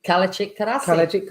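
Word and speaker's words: Kalecik: Kalachik Karasi. Yeah. So actually, interestingly, in Turkish, the C is pronounced J, like a J.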